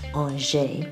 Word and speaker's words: Angers: located near RJ Franz the city's pronounced on shave in French the nursery multi vague is a